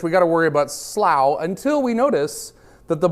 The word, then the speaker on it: Slough: You might notice that Slough up here, or Slough or Slough, or however you want to pronounce it, I'm never sure. It's Slough, I know.